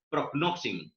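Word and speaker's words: πρόγνωσιν: Escuchen muchas veces la pronunciación, amén, que estoy siempre buscando los acentos donde está la sílaba que recibe mayor fuerza, y está en la primera sílaba, prognosin, amén, y esa es la pronunciación correcta.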